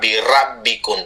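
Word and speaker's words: بِرَبِّكُمْ: sini aninu birbikum biro ingat seperti tadi Ro bukan Ra birabbikum tapi ro birbikum Fa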